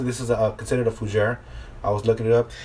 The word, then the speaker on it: Fougère: what the hell I called it but it's pronounced fujairah for sure what was it for Jeff okay